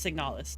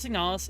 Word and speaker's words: Signalis: Replica, no, this is, yeah, okay, I said it wrong. It is Signalis. That was my bad. The game is called Signalis.